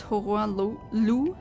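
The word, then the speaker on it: Hoarah Loux: model is hor L I assume that the that's a French name and um when it's French or pronounced in a French way then the x is silent just like it should be in real life right well I don't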